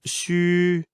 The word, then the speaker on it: xu: of Chinese phonetic alphabet, the letter X is pronounced as sh in the English word she. U is pronounced as wu in the word wood, but ending with a prolonged I, as in it.